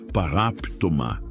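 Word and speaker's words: παράπτωμα: A palavra é paraptoma que se pronuncia paraptomá.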